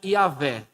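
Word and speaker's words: Yahweh: Y H w h a grande maioria dos estudiosos acredita que o nome histórico de Deus seja yavé talvez essa seja a pronúncia correta mas não tem como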